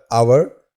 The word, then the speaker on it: hour: अगला वर्ड ये तो आप सभी जानते होंगे, HOUR, आवर, जिसका हिंदी अर्थ घंटा होता है। इस वर्ड में H जो है वो साइलेंट होता है।